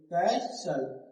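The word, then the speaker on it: castle: कैश ले कैसल यहां टी जो है वो साइलेंट क्या बोलना है कैसल कैसल का मतलब क्या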